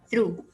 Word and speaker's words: through: b is silent and this one is through and the gh is silent so we will not